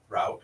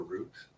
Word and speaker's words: route: I learned there was this different way to pronounce route or route I decided the way that didn't rhyme with root was better because it was easier to differentiate and I just adapted